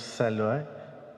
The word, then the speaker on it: Saloi: Alors, est-ce qu'on prononce Saloy ou est-ce qu'on prononce Saloy? Saloy.